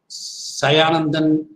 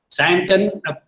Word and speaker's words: Sayantan: I think if I can pronounce the name correctly, Sayanandan. Am I right, sir? Yes, sir. Is it the correct way I put it? You are from... no, it is Sayantan, sir. Sayantan, Sayantan, you are from which part?